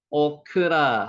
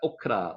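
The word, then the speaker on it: אָכְלָה: 드렸습니다 나타 주다는 뜻이고요 오크라 한번 따라해 보세요 오크라 여기 아 발음이 되기도 하지만 여기 오 발음이 짧게 발음이 됩니다 오크라 오크라 음식입니다 자 30절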